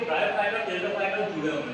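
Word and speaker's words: Pteridophyta: यहाँ देखना टेरिडोफाइटा टी से बोलते हैं, मींस पर टी साइलेंट है यहाँ पर।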